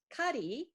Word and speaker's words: Kari: Kari, it's carry, but you say it like as if it were Spanish.